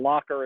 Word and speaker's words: Locher: room uh there's a channel on youtube and locker is spelled like my last name l-o-c-h-e-r not llc